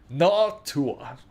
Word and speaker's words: Noctua: No, it's pronounced Noctua.